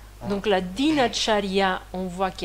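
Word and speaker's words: दिनचर्या: Donc, même si le mot, il est dinacharya, on ne le prononce pas dinacharya, on le prononce dinacharya, parce que le A, il devient E, parce que comme la dernière voyelle, elle est forte, elle devient faible, dinacharya.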